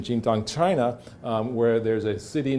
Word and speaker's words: Xintang: There's an example of Xintang, and that's my bad Chinese pronunciation, Xintang, China, where there's a city known as Jean